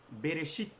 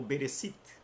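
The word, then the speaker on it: בראשית: Para esse momento, para a palavra desse dia que se diz Bereshit, ou Bereshit.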